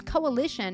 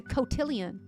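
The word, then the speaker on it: cotillion: Oh, I read it as coalition. It's a cotillian. Cotilian. A dance. Oh, like a ball. A catillian. I said it wrong. Oh, I said it wrong. I said a coalition.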